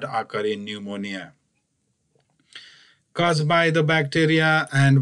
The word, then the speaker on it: pneumonia: Again, the spelling says pneumonia, but we pronounce the word only pneumonia. P is silent.